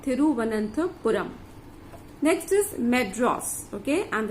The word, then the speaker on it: Thiruvananthapuram: It is Thiruvananthapuram. It has got a long spelling, and you pronounce it as Thiru, T-H-I-R-U, Thiruvananth, V-A-N-A-N-T-H-A, Vananthapuram, P-U-R-A-M. So it is like Thiruvananthapuram.